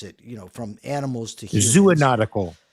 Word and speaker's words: zoonotic: Zoonotical. I think it's zoonotical, because if it's zoo, then you would require a third O.